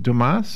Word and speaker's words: Dumas: I mean, if we're going to be really picky, it's a French name. And, you know, if you ever took French, you remember the S at the end is silent. So it's Dumas.